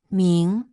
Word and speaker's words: 明: Now that you are familiar with this character, let us practice its pronunciation. Ming ming ming.